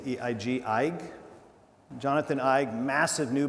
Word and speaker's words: Eig: I would say, I don't know if you're familiar with this new book by Jonathan, I don't know how to pronounce his name, it's E-I-G, Eig.